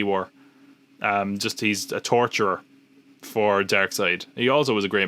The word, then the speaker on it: Darkseid: Which we should say that this is our first look at Darkseid. I always say Darkseid because of the way it's spelled, but it's Darkseid.